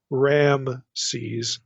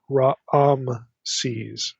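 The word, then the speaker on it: Raamses: the Hebrew can vary here we have literally ra se's there's like two a vowels in the pronunciation it's not Ram se's it's ra se's the way this is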